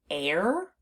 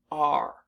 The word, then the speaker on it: are: we pronounce this word r so the unexpected part of this word is the e at the end because it's not doing the job that we expect it to do so what word is